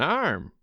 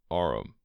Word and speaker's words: arm: "Sure, it's an arm, your honor." He pronounced it arum.